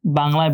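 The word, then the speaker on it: ب: তা বর্ণটি এটার similar sound এটার সিমিলার সাউন্ড বাংলায় ব আছে ইংলিশে বি আছে এটার সিমিলার ত আছে দেখেন এটা হচ্ছে বা আবার বলছি ব আর বা তিনটা বর্ণের প্রোনাউন্সিয়েশন একটু ভিন্ন। এটা বি এটা বটা বা কিন্তু সাউন্ড মূল সাউন্ডটা কিন্তু ব একই।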